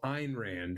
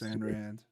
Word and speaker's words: Ayn Rand: Opinion on first of all, Ayn Rand, right?